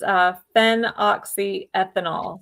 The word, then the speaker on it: phenoxyethanol: So it's phenoxyethanol. So yeah, it's PEA. Oh my goodness, I started spelling it wrong. It is PHEN, phen, and then oxy, OXY, and then ethanol, ETHANOL. So phenoxyethanol.